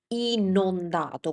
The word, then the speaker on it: inondato: So in this case, since the correct word is inondato with an O, you need to make sure to pronounce the O correctly. Inondato.